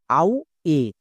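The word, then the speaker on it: away: তাহলে এই ওয়ার্ডটির উচ্চারণ কি দাঁড়ালো? আউ এ, আউ এ।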